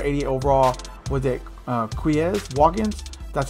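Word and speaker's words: Quez Watkins: this wide receiver 88 overall was it uh quiz walk-ins that's how you say his name and the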